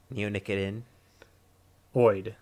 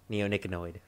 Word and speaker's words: neonicotinoid: help you pronounce it neo like the matrix okay i got that i'm neo like my name okay neonic it neonicot in neonicotin oid neonicotinoid neonicotinoid neonicotinoid all right just